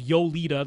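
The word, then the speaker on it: Jolida: amps there is a company called yolita that's yolita spelled with a J uh but they make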